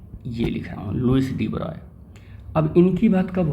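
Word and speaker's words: de Broglie: ही ऐसी है कि लोग प्रॉपर स्पेलिंग को लेकर ब्रॉली बोल देते हैं लेकिन सही पढ़ना हो तो लुईस डी ब्रॉय ठीक है तो इनका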